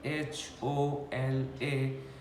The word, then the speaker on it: hola: thing we pronounce there's there is only one letter which is H which is silent so when we write h o l a we pronounce as it is hola because it's just not pronounced the only one letter other all the three letters are pronounced so it becomes ola similarly other word which